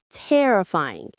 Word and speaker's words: terrifying: The stress is on the first syllable. Tear. Say it with me. Terrifying. It's like terrible but with aying.